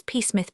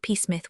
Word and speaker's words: Psmith: The name is peacemith. Peacemith. The P is silent.